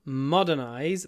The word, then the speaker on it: modernize: to modernize the business the stress is on the first syllable modernize but it's not modern modernize m m a long